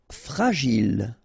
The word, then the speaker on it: fragile: Fragile. Okay, final E not pronounced, and then when you get this G and I, J.